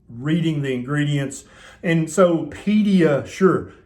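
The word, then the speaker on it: PediaSure: the ingredients and so pedia sure kind of rhymes with pediatrician right and you've heard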